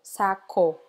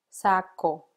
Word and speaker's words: saco: Seria algo como saco em espanhol você deve pronunciar a letra O como o saco saco Ok espero que você